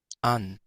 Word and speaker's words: an: al Dutch y pues tenemos dos pronunciaciones posibles. an, Una con el stop, el sonido glotal, ¿verdad? Que es este de acá, pero ya hemos dicho en ocasiones que este incluso se puede omitir porque no es un